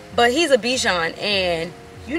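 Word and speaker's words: Bichon Frise: of all he's a Bijon so Bichon frize that's how you say it I think but he's a Bichon and you're not supposed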